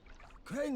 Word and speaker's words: Crane: Crane rhymes with train and brain and sane and grain and rain and plane and the other kind of plane.